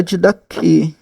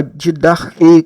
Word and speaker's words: Didaquê: Temos a Didaquê, ou a Didarquê, como alguns pronunciam, que é o ensino dos apóstolos.